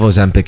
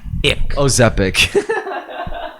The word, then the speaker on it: Ozempic: Ozepic. That's what I thought it was. You got that? Ozempic. I could have been saying it wrong the entire time.